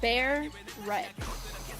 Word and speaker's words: beret: Bear Ret. Oh, Bear. Barrett, like Barrett.